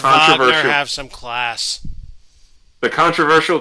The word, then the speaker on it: Wagner: Wagner. Despite this grand It's gesture, pronounced Wagner.